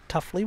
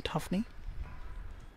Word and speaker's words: Tuffley: Tuffley rather than Tuffney.